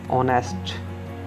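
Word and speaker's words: honest: ऑनेस्ट, ऑनेस्ट, H silent है, ऑनेस्ट।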